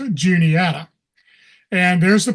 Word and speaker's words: Juniata: And first off, I'll mention a lot of people out of the area, when they first see the name, they think it's Juanita, not Juniata.